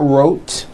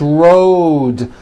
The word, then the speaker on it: road: Road. It's not wrote, unvoiced, it's road. The whole word is voiced.